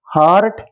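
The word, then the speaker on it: heart: দাঁড়াও, আর্ন তো লার্ন, হার্ট, হার্ম। আচ্ছা দাঁড়াও, আর্লি, আর্থ, দাঁড়াও তাই বলি, এখানে ফার বানানটা দেখো।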